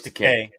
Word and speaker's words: Takei: It's George Takei. Is it? All right. Yeah, as he would say, Takei rhymes with gay.